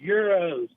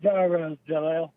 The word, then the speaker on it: gyros: just uh correcting him it's euros euros not gyros oh gyros we we pronounce it gyros or uh heroes or something like that ah those greeks with